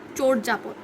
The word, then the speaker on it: চর্যাপদ: চর্যাপদ লিখবো আমরা। চর্যাপদে অন্তস্থীয় জ আছে, আমরা জানি আমরা বর্গীয় জ, অন্তস্থীয় জর ক্ষেত্রে সবসময় অন্তস্থীয় জয়ের স্থলে বর্গীয় জকে সিলেক্ট করব। তাহলে চর্যাপদ, এটা আসলে চর্যাপদ, চোর যা পদ, এভাবে।